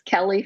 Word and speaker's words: Kele: they extreme music okay so it's Kelly and my first name is spelled k-e-l-e so if you look